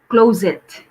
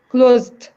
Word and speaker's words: closet: Closet. Closed. Closet. So 2 syllables.